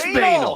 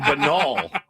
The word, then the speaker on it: banal: I've been saying banol. I've been saying I What? You're just afraid of saying banal. I think I am because of what it rhymes with.